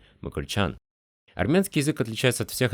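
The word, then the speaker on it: Մկրտչյան: Но на самом деле они разбиваются в речи звуком «мыкртич», поэтому и образованная от этого имени армянская фамилия произносится отнюдь не так резко, как мы привыкли – «мыкрчан».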